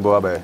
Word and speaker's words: буйабес: И сейчас будет нам рассказывать, как правильно приготовить суп под названием буабе. Правильно? Буабе. Ну, я, насколько знаю, Зэ не сильно читается там, но может быть.